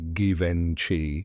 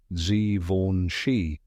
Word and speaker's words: Givenchy: Gori fun fact many people say givenchi or givenchi but now you know the right way z v shei now next time you're